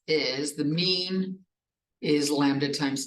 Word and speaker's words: lambda: P of x equals lambda t to the x over x factorial times e to the negative lambda t.